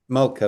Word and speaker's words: Moltke: I can never pronounce it, the German general Multke, is it Multke? Somebody can help me pronounce that. Who's the guy who really did the German Moltke. Moltke. Multke, that's it.